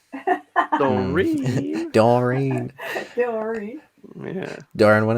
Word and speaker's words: Dorin: In my native language, you would say Dorin, but you wouldn't put an accent on the E. Dorin.